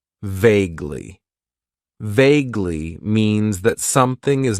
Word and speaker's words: vaguely: use and that is vaguely it has two syllables and the stress is on that first syllable vaguely vaguely means that something